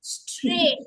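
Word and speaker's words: straight: This when we से तो हमें स्ट्र और र तीनों सुनाई दे रहा है वी can hear all three स्ट्र then ए ए आई लेकिन जी और एच तो साइलेंट है।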